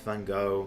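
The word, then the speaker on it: Van Gogh: see some Van Go pictures and Van Go Van Go. I'm just I'm going to pronounce it Van Go because that's how the episode does it.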